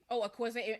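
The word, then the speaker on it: Akwaeke Emezi: Akweze is that who it is? Akweze? Yeah. Akweze Emeze.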